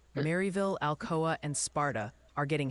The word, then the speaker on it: Maryville: They're gently reminding you it's pronounced Maryville. Really hit that Mary in Tennessee.